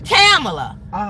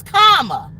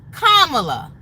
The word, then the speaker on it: Kamala: She was saying Kamala. It's not Kamala. It's Kamala. Like the little girl said, say comma and then la. Kamala.